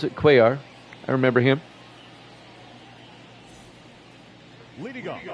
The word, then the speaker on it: Cuellar: That's how you pronounce it, Cuellar.